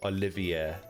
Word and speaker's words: Olivier: it is do you think it's Olivia or Olivier and shatu as well and Watchman Watchman what